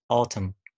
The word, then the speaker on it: autumn: لو نقيت الكلمه بتاعتك if you find this word ends with mn الكلمه بتنتهي ب mn ما تنطقش حرف ال N زي autumn, column, dam, okay؟ طيب حرف ال P, ال P, okay؟